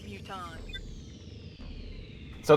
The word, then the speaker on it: mutons: The only good muton is a dead muton. So they're pronounced mutons.